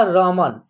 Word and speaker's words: रमन: लेकिन जब एक साथ जोड़ेंगे इन अक्षरों को तो लास्ट वाला अक्षर का उच्चारण क्या होगा, उसमें अ की साउंड नहीं आएगा, यानी कि अ की ध्वनि का प्रयोग नहीं होगा, उसमें अ की ध्वनि का प्रयोग नहीं करना है, ठीक है ना। तो इसका उच्चारण होगा रमन।